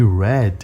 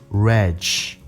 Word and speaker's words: red: Lembra que a pronúncia é importante, lembra que red é diferente de reg. É diferente de hedge.